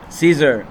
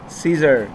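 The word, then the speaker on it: Caesar: ہے یہ ساری چیزیں۔ اے جب سائلنٹ ہوتا ہے، جیسے کہ سیزر، اب یہاں پر اے کا کوئی اپنا آواز نہیں بن رہا اور ڈائریکٹلی ای سے آواز تلفظ ہو رہا ہے، سیزر، ٹھیک ہے نا۔ اور یہ دیکھو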